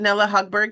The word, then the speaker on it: Nella Hogberg: Nella, is it Nella Hogberg? Is that the correct pronunciation?